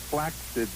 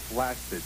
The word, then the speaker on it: flaccid: tell you that it's flaid not flaccid you said flaccid penis it's flaid penis there's a K in it no but if you